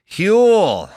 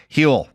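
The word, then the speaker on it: Huel: Hule.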